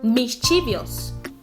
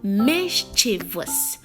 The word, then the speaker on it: mischievous: you're wrong now listen there is no letter I after the V so don't even try to say mischievous there's no I there it is mischievous listen the oh I give the a sound so yeah Miss Chi verse mischievous mischievous mischievous not